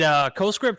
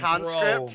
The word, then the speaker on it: CoScript: It very likely is because I mispronounce his name every single time and call him Conscript.